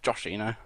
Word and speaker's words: Joshino: I'd just like to say it's pronounced Joshino, and we're quite big, and that's it, really.